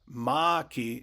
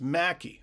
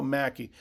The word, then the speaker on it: Maki: Eric Nestorenko, Chico Maki, not Maki, it's pronounced Mackey. So Chico Mackey, thank you.